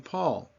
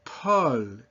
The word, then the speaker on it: Paul: The name Paul, Paul, not Paul. You hear that poof of air? Poof appropriately starts with the letter P.